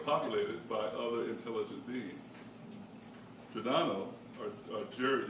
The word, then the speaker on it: Giordano: Around the same time, Italian philosopher Giordano Bruno suggested that the universe contains an infinite number of inhabited worlds populated by other intelligent beings. Giordano, or Jared, is like George.